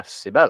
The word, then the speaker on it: Sibel: I mean, in Turkey they put the emphasis on the second half of the word, so yeah, Sibel.